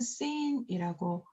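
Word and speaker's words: שׂ: 그래서 이것은 쉰이라고 읽고 이것은 씬이라고 읽습니다.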